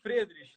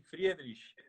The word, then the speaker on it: Friedrich: Eu pronuncio Friedrich, né? Não sei se os Fred. alemães da Alemanha concordariam, mas a família pronuncia assim, Friedrich.